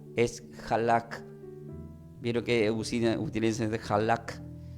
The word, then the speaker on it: halak: para llegar al padre Entonces el hebreo se pronuncia como no no escuchen Esto no es alac es halak vio que utiliz halak h a L A